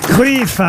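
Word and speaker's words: Cruyff: réponse même pas qu'on cruf on l'appelait cruff aussi parfois Yan cruff ça dépend des prononciations mais effectivement ce joueur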